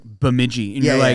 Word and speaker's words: Bemidji: So they're like, it's like Bemidji. And Yeah, you're yeah. like, what? Yeah. I can't even pronounce that.